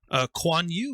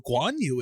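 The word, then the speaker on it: Guan Yu: this this show and it has for instance kwan you which is spelled it actually spells it phonetically which makes it a lot easier to say it's spelled k-u-a-n-y-u and when i first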